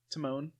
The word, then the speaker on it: Timon: pronunciation for Timman Beller obviously it's Timon as in Timon and Pumbaa but so the captain